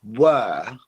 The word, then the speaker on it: were: that quickly the word were there's no R where ER you can't hear the r at the end of the word were okay because it's British